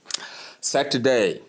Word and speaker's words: Saturday: There are three syllables here. Saturday and day. Saturday. Saturday. Do you get that? So you call it Saturday. Remember the to there that is the middle syllable is softened.